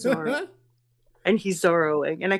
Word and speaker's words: Zoro: the whole problem is while Zoro was Zorro I'm like it's Zoro and he's zing and